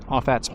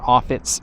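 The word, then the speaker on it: Offatts: that's what it's named offats Bayou or offit Bayou however you want to pronounce it but the other side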